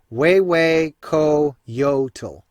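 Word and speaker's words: Huehuecoyotl: crazy looking name but you pronounce it way way KO Yota and this is a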